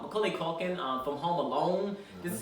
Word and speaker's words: Macaulay Culkin: lourdes um angela ross um adena porter um macaulay mcculkin mccauley culkin i said his name wrong macaulay culkin from home alone this is his first season